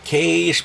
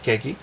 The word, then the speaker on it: Kage: Il y a beaucoup de personnes qui prononcent The Legend of Cage parce que c'est marqué Kag mais en réalité le vrai titre c'est The Legend of Kage.